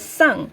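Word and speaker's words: 상: word over here and this one is the mixture of the letters s a and n g and and it's pronounced as sung so this ng part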